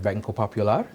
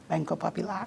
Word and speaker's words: Banco Popular: of the year at bangkok popular thank you very much did i pronounce that correctly banko popular banco popular wonderful we are known as popular popular yes yes i'm